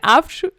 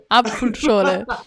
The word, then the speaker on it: Apfelschorle: Apfelschorle. Apfelschorle.